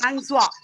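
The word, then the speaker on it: François: Mary Francois is pronounced Francois.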